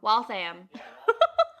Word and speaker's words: Waltham: of waltham yeah yeah oh i said it wrong wealth i am cool wealth i am